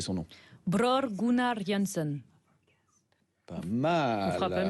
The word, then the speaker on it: Bror Gunnar Jansson: Anaïs, je vous laisse prononcer son nom. Bror Gunnar Jansson. Pas mal. On fera pas mieux, je crois. Bror Gunnar Jansson.